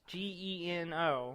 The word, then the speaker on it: Geno: But you got Gino and Mallow. Gino and Gino. I've never said it out loud. Gino. I've always pronounced Gino. It's Geno.